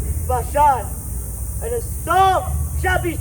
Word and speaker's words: Bashan: And I will bring Israel again to his habitation, and he shall feed on Carmel and how do you say Bashan? Bashan.